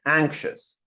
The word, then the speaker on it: anxious: jealous first part Tomy second word anxious in the first Sy absolutely anxious anxious again the stress is on the first um Alex ambitious three